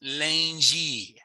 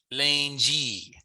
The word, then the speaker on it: lundi: Days of the week come straight from French, although we pronounce them a little bit differently. So I'll just get you to repeat after me. Monday is lundi. Lundi. It's a little different from French where you would say lundi, right?